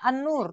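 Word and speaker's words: النور: Jadi tulisannya An-Nur, memang bacanya An-Nur, tetapi coba lihat hurufnya An-Nur. Alif dulu, baru lam, baru nun. Jadi harusnya pakai al. Walaupun nanti bacanya An-Nur, ya, dan seterusnya.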